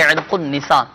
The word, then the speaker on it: عرق النساء: میں سے کسی کو عرق النساء، صحیح تلفظ یہی ہے عرق النساء کا درد ہو، یہ